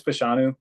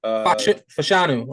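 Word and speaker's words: Fashanu: what Caleb we on the correct way to say the name Caleb how do you pronounce that name it's it's fanu fanu okay he's a top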